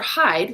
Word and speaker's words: Hyde: And Mr. Hyde, hear the name, H-I-D-E. It's spelled officially H-Y-D-E, but Dr.